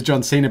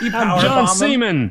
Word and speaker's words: John Cena: it was and he didn't know his name was john cena but he was like doing that for a week and i was like you know gotta say his name right go to your room john seaman yeah john same a man yeah sorry steve this